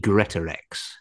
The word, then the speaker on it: Greatorex: And it's got to be Greatorex.